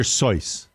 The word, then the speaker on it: Seuss: million dollars for Dr Seuss seems as far as we pronounce it in my house Dr soyce why was she saying